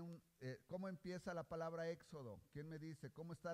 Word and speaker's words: Éxodo: Pero lo importante que yo les quiero decir es que este acento quiere decir que la E se pronuncia más fuerte. Quiere decir que cuando yo pronuncio éxodo, no digo, no, por